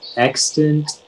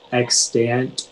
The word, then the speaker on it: extant: all the information yeah so it can be pronounced extant extant or extant is an adjective and